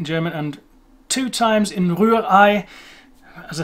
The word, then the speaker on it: Rührei: How's it pronounced? German me? Rührei.